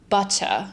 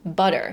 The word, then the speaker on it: butter: And the alvear flap actually sounds very fancy, but it just means that you're going to pronounce a double t like a d.